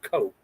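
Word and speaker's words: Koch: And that somebody is with the last name of Koke. I don't And Coke is spelled K O C K O C H in case you didn't know.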